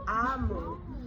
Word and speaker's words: Omu: But we're going to read this and it's pronounced amu.